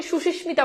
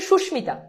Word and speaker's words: সুস্মিতা: উচ্চারণটা কি সুস্মিতা যদি যদিও এটাকে অনেকে সুশিষ্মিতা বলে বাট এটার একচুয়ালি উচ্চারণ হচ্ছে সুস্মিতা আচ্ছা এইবার তোমরা এই